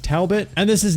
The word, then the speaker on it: Talbot: of ten i think i said taobao grimes earlier but i believe it's pronounced talbot and this is not